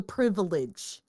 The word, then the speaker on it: privilege: It was the Balrog versus the Fellowship, and this was probably one of the coolest dioramas I've ever had the privilege. And yes, that's three syllables.